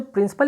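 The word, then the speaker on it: principal: हैं प्रिंसिपल का, तो दोनों का उच्चारण एक जैसा होता है। प्रिंसिपल की बात करें या फिर हम प्रिंसिपल, ठीक है, प्रिंसिपल की बात करें, दोनों का मतलब अलग होता है, उच्चारण हालांकि एक होता है।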